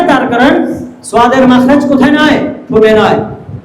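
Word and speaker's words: صاد: তাহলে এটা আমরা মোটা করে উচ্চারণ করে দেখাবো কিভাবে, দেখেন, সাদ। বাচ্চাদেরকে বলবো আমার ঠোঁটের দিকে তাকাও, দেখো আমার ঠোঁট নড়াচড়া করে না, সাদ। আওয়াজটা ভিতর থেকে গোল করে বের করতে হবে, মোটা করে বের করতে হবে, সাদ।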